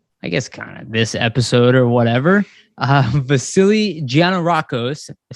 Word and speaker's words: Gianarakos: Vasili Gianarakos, I said it right? Gianarakos?